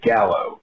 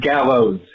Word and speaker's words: gallows: frequently make which is you say Gallow like a hangman's Gallow it's Gallows Gallows with an S end that is both